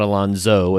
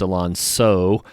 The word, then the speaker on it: Alonso: Go to YouTube, just look up his name, Alonso Rodriguez, and Alonso is spelled with an S, not a Z. It's not Alonso, it's Alonso.